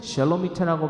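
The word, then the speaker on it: שלומית: 자, 슬로밋은 샬로미트라고 발음하는 이 샬로미트는 바로 평화로운이라는 뜻을 갖고 있고 이 단은 히브리어로 심판이라는 뜻을 갖고 있다는 거예요.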